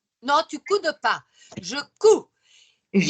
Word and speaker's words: couds: Je couds. Il y a le D, mais on le prononce Comment pas. l'écrit? On écrit C-O-U-D-S, mais on prononce cou.